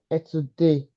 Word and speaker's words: études: Elle finit ses études. Études. It cannot be Et say, it's say. say études. No, sorry, say, yes, études. The ES here will not be pronounced because it's not a monosyllabic word.